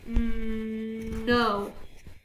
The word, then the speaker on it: know: Okay, so I'm underlining this so that you know that's the silent, there's a silent letter in this, which is K, so we're going to ignore the K and just say the no.